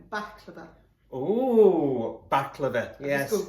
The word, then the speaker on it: baklava: And she asked for pronunciation. baklava.